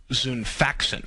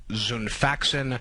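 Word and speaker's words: Xifaxan: possible new use for its key drug um zun faxin which is spelled x i f a x an kind of hard to uh pronounce but that's its uh uh key drug zun faxin uh s salx Pharmaceuticals makes drugs that treat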